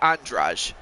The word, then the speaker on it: Andrade: the reach advantage over jessica andraj even though it's spell even though it is spelled andrade muay thai and a